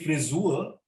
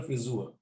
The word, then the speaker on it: Frisur: The haircut is the frisur. So you have to be careful with the pronunciation of friseur. It's almost like an Ö, O umlaut, friseur or friseurin, but frisur, U, is the haircut.